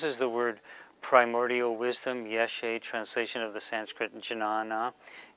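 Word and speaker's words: ཡེ་ཤེས: Well, if we were trying to pronounce that, we would get ya drengbu ye, drengbu sa a, so we get something like ye a, which is pretty close to ye she.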